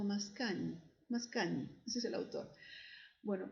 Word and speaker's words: Mascagni: Caballería Rusticana de Mascagni, que se pronuncia algo así como Mascagni, ese es el autor.